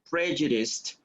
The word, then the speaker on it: prejudiced: pray guys no practice prejudiced prayer and remember that a t sound prejudiced right and the last